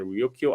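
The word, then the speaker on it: Ryukyu: know first they they refer Luchu by the Japanese pronunciation Ryokyo Islands but they but then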